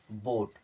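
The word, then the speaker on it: boat: तरह उच्चारण करते हैं अब ओ के साथ में ए आ रहा है तब भी ओ के साथ में उच्चारण करेंगे चलिए करके देख लेते हैं बी ओ एटी इससे हो गया ब और टी से हो गया ट ओ ए का कैसा मात्रा लगाना है ओ का मात्रा लीजिए ओ का मात्रा लगा दिए क्या बन गया बोट अब सीओ एटी सी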